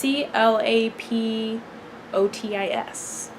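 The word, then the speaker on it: Clapotis: I think both are I think clap clap OD is funny but I'm sure it's clap OTE I enjoyed yeah who knows how do you say it it's CLA P ot is clap Otis there's also that option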